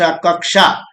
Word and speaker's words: कक्षा: देखिए, क श प्लस इक्वल टू क्ष, ठीक, उसको उच्चारण क्या होता है, क प्लस अ प्लस क श, कक्षा।